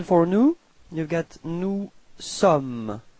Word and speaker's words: sommes: Then for nous, you've got nous sommes. Okay, final S is not pronounced.